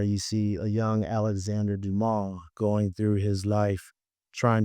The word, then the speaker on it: Dumas: It's Dumas. Dumas. Yes, Okay. that's a silent. Okay. It's a French name.